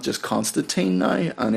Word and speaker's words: Constantine: Why didn't everybody understand that it's Constantine? And I I did didn't this know check. that either. I thought. Yeah, well, you know, I think he there's said, why does everybody pronounce it Constantine? And I said, because of the huge teen audience in America.